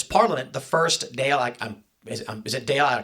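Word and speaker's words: Dáil: The first Dale is is it Dale? I can't pronounce it. The first doll.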